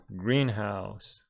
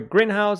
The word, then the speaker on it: greenhouse: pronunciation of compound nouns the stress in compound nouns falls on the first syllable making it Greenhouse but that one is